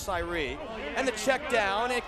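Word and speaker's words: Sayre: a s's department store it's spelled the same way though it's pronounced Sye and the check down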